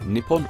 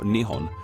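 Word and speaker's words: 日本: Well, they call it this in kanji, which can be pronounced in one of two ways, Nippon or Nihon. For the rest of this video, I will be using Nihon.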